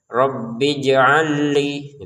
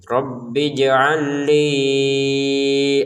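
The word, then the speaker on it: رَبِّ اجْعَل لِّي: Jadi jangan dibaca terputus. Rbij'al li digabungin saja. Rabbij'alli gitu ya. Rabbij'alli ayah.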